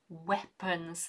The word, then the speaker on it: weapon: The number of poachers and also their weapons. That is the answer. Tricky one. Also tricky because of the spelling. Weapon, pronunciation. Pronunciation is E. Spelling, W-E-A.